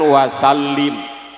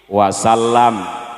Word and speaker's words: wasallam: Menggunakan sholat misalnya di awal, maka belakangnya jangan wasallim, tapi wasallam.